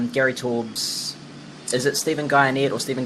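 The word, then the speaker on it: Guyenet: Is it Stephen Guyanet or Stephen Guyanet? I never remember how to pronounce his last name. DNA, like DNA, but with a G.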